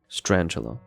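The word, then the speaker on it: Strandtula: We got the strandula or stranchula. Strantula. Yeah, that actually makes me question the old pronunciation. I guess it was scul as in tarantula, right?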